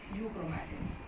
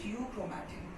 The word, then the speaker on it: euchromatin: Okay, and this is known as euchromatin. EU is silent, euchromatin.